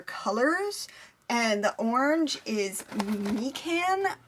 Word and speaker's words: mikan: and the orange is me can orange i think that's how it's pronounced m-i-k-a-n that's a mandarin orange